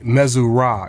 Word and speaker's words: Missouri: group of four Gods with hidden arms Missouri mesura is how it's pronounced that means royal son or son of